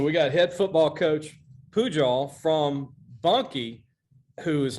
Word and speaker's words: Pujol: I don't want to mispronounce it because they always mess up Brecheen, coach, but Pujol. Yep, Pujol. That's right. Pujol. I could easily say Puju or Pojo, but it's Pujol. Absolutely.